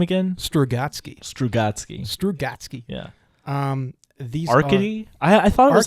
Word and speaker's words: Arkady: Do you want to take a chance at pronouncing these guys' super Russian names? No. All right, so it's Arkady.